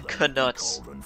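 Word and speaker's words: Knuts: Go to Gringotts to get some canuts, sickles, and galleons. Grip Hook will see you right. Yeah, canuts. That's how it's pronounced.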